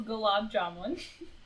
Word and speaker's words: gulab jamun: it over but i i'm gonna let you pronounce it so i don't butcher it that is gulab jamun okay and then this one's a vegetable um